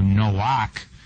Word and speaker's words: Noach: Now, the masculine form of Noah, actually pronounced in the Hebrew, Noach, means rest, as opposed to the female version meaning movement.